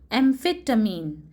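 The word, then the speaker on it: amphetamine: ये वर्ड को प्रोनाउंस किया जाएगा एम्फेटामीन.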